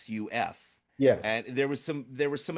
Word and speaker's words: Yusuf: And your name itself, it's not Yusuf, it's Yusuf, right? Because there's a U there. It's Yusuf.